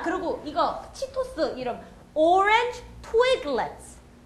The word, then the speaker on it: Twiglets: 트위그가 원래 나뭇가지란 뜻이에요. 그러니까 나뭇가지 모양으로 생겼잖아요. 그래서 twig의 강세를 넣으시면 돼요. 그리고 얘는 강세를 안 받으니까 let's 그리고 넘어가는 거예요. 그러니까 let's가 아니에요. let's go 할 때 그 let's 아니고 let's. 그래서 orange twiglets.